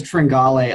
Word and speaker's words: Tringale: You told me it was Tringale.